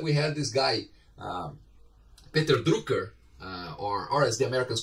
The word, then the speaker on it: Drucker: had this guy, Peter Drucker, or as the Americans call Peter Drucker. He was from Austria, I believe. So if we pronounce his name the German way, it would be Peter Drucker, right?